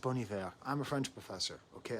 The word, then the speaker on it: Bon Iver: I know it's pronounced Bon Iver, but I say Bon Iver because they don't spell it properly, so I assume they're trying to goof around with the language. But don't you tell me in the comments how it's pronounced. I'm aware, but that's not how it's spelled, so I'm going to call it Bon Iver.